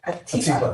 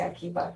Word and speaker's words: Atiba: I had one other question if I can for Sunil and Atiba. Excuse me, I was gonna say Akiba because it rhymes with Keisha.